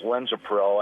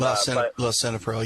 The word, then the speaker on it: lisinopril: But otherwise, I'm on blood pressure medicine too, which is Linzapril, I believe is how it's pronounced. And Lisinopril, yeah.